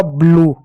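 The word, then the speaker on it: blue: में आगे और समझेंगे एल को क्या लिखेंगे ल लिखेंगे यू को क्या लिखेंगे ओ लिखेंगे यह साइलेंट होता है ठीक है? इस यू यू और ई का आपका यहां पर ओ ई हो जा रहा है। ठीक? तो हो गया आपका ब्लू।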